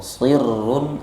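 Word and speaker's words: صِرٌّ: fiha siruma yunfiquuna fiha Sir shadnya harus tebal ya. Karena kalau dibaca tipis sir maknanya ee beda. Kalau sirrun artinya rahasia. Kalau sirrun artinya dingin beda Bapak Ibu ya.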